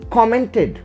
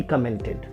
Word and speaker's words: comment: Its pronunciation never changes, right? So it is comment. All the time it's comment. Okay, he commented, not he commented. Commented is wrong, right? Comment is right.